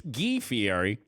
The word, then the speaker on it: DiFiore: to fier you'd go it's DiFiore but Seton says you got to use your hand it's yeah you know all your fingers have to come together in order to properly pronounce his name as fee at E like moots idea Lou